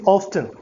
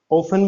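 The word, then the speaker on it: often: कहता है शी इज ऑफ्टन coming to मी on Sundays. ये वर्ड जो आप देख रहे हैं ऑफ्टन, इसकी दो प्रोनाउंसिएशन है, ऑफन भी सुना होगा, ऑफ्टन भी सुना होगा।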